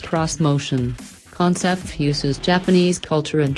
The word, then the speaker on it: Xmotion: six passenger three row Nissan's motion pronounced cross motion concept fuses Japanese culture